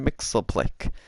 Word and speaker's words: Mxyzptlk: Now, I read online that his name is pronounced Mr. Mixelplick, so that's just how I'm going to pronounce it.